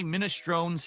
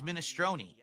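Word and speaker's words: minestrone: So, I say minestron who? And they're like, "No, it's minestroni."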